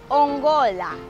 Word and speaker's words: ongola: Ongola. Ongola is spelled as O-N-G-O-L-A.